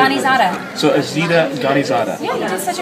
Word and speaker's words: Zada: Zada.